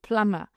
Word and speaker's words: plumber: For example B. A B for barco so B for in plumber we don't hear it.